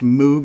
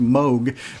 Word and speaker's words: Moog: here's the funny thing I always heard it pronounced moo as well the moo synthesizer another great 80s icon instrument but I actually have a friend who works with them and he's telling me it's actually pronounced Moog but I've always pronounced it moo it's spelled